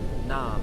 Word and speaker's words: Nam: Sat rhymes with but, Sat, S-A-T, Nam, N-A-M, rhymes with mom.